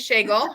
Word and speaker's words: Schagel: Yes, that's how you pronounce her last name is Schagel.